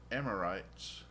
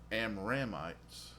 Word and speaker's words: Amramites: And of Kohath was the family of the Amorites. The Amramites.